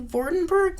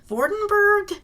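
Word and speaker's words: Vordenburg: In the novella, Vordenberg is spelled with a U, not an E, and also using the German pronunciation should probably be Vordenberg, because the German V is similar to the English F.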